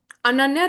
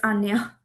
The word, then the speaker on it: Ananya: Yeah, just a clarification. It's Anya.